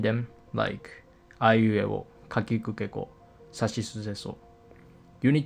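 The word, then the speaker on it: り: Like, take the Japanese character, Ri. In Romaji, it's written as Ri, but the actual pronunciation is closer to Li.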